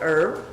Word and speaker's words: herb: When the French took it over, they dropped the H and just called it ERB, herb. They lost the H. When the Brits came in, they took it over and they called it herb. And then some queen came along and she's like, well, in Latin it had the H, herba.